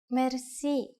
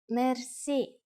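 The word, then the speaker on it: мерси: you will be amazed which word that is merci merci Mercy is a long word from French but it is pronounced with a typical Bulgarian heart r a it is used mainly in informal situations merci how do you answer it's easy there are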